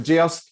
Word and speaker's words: Geosk: And the way I remember Geosk is it rhymes with kiosk.